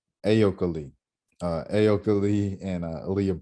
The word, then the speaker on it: Ayoka: Last time I kept saying Miss Lee because I didn't even want to, but it's Ayoka. There we go. And I remember it because I pronounced it.